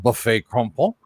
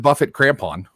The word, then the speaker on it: Buffet Crampon: today with Kurt Winslet from buffet crumpled and that's the way that I've always heard it pronounced so because it's better than Buffett crampon yeah but also Doug